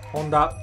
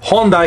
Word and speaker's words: Honda: right no much to it Honda in Japanese Honda it's pretty much the same thing the name